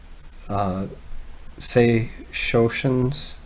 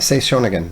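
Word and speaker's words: Sei Shōnagon: Genji, and also like Sei Shoshin's, I'm getting the last name wrong, but Sei Shonagon, that's it.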